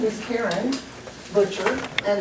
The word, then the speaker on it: Butcher: My name is Karen Butcher, and it's spelled with no T. I'm not a boofer, I'm a butcher.